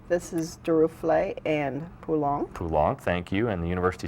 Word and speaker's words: Poulenc: Yeah, we both butchered quite a few pronunciations last. I think this is Duruflé and Poulenc. Poulenc, thank you, and the university singers and conductor